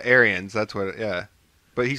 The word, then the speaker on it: Arians: Is his name Arenas? What is it? Arian? I don't know how you pronounce it. Arians? That's the Bucks. Yeah, Arians.